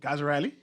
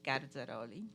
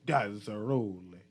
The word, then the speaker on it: Garzaroli: I'll pronounce it for you in the real Italian way, which is Garzaroli. Garzaroli.